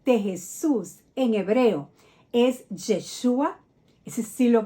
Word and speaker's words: Yeshúa: que el nombre de Jesús en hebreo es yeshua ese sí lo pronunciamos yeshúa Qué significa Ya ves salva no significa llave